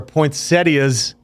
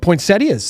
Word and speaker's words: poinsettias: Apparently, there are poinsettias as well. How did I say it? Poinsettia? No, poinsettias. This is the proper pronunciation.